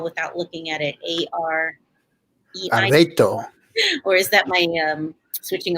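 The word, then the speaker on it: areíto: Arreto. Or is that my switching of letters? It's I can't spell it unless I'm writing it, but arreto is how you call it.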